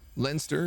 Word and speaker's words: Leinster: Leinster, ignore the I.